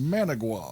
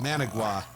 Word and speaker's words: Managua: talk about was uh Managua or Manguia or however you pronounce that. He says it in the song, but it's really fast. Managua. Managua.